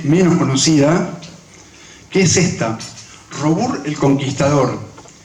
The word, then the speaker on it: Robur: Es Robur, está bien pronunciado.